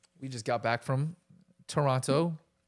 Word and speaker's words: Toronto: And we just got back from Toronto. Toronto. Toronto. Toronto. The last second T is silent.